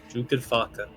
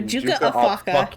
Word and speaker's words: Juka Afaka: Juka Faka. No, Juka Afaka. Yeah. Juka Afaka. It's like Portuguese for Juan of the knife.